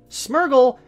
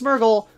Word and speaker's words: Smeargle: of my system though smeargle is smear and beagle so the people who call it's myrtle well you're wrong like I once was I